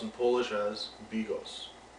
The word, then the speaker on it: Bigos: teach you how to make Hunters 2 or pronounced in Polish as Bigos it's a perfect dish to have on a